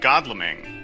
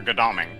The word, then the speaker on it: Godalming: But since you're planning on doing a future trade with Godalming, or Godalming, if you want to pronounce it correctly, but as I say, as an American, I'm required to pronounce all these things incorrectly.